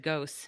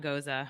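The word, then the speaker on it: gose: first started the podcast i said ghosts not goza i know better well it's yeah it's confusing because there's goza and then there's goos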